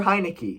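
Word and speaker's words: Heinicke: team led by taylor heineke is that how you say his name hinaki heineke i don't really know all i know is it sounds like the beer company he doesn't need to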